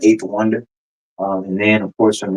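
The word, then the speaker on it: A8THWNDR: will be Eighth Wonder, and I spell it the letter A, the number 8. That's how I spell my name. I pronounce it eight though, but it's the letter A, the number 8, THWNDR. So Eighth Wonder.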